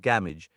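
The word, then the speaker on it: Gamwich: Therefore game witch pronounced gamage seemed a fitting translation but in shortening gamagy to game to stand for galpsy.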